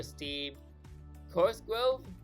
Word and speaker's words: Steve Corsgrove: seminar scheduled for Steve Corsgrove, if I'm pronouncing that correctly. Yes, you got that correctly.